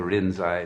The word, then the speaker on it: Rinzai: the rinzai sec because they can't pronounce linchi you know in japanese so they turned it to rin's eye but that's the uh